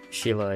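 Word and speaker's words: Scheele: Is that how you pronounce the guy's name? Sheila, yeah.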